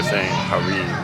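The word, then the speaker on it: Harem: Um so, next up, I was walking through the gardens and then uh so in English we would pronounce it her, but that's not how they feel. Harim Harim.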